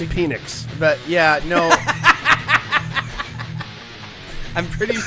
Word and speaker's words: Penix: It's pronounced Penix.